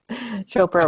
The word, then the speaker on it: Chopra: I always call him on a Deepak Oprah, but that's not right. Chopra rhymes with Oprah.